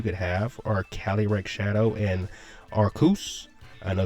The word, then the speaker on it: Arceus: So I think in this particular format, the two of the strongest like restrictors you could have are Calyrex-Shadow and Arceus. I know it's pronounced Arceus, one of the channel would call him Arceus.